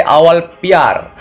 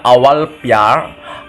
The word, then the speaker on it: awal pyar: terus kemudian lanjut ke awal Pyar tulisannya awal pwea er bacanya awal Pyar awal biar itu artinya